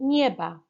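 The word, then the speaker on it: nieva: sounds like that y and again you've got the v sounding like a b and finally nyeba ibm okay so let's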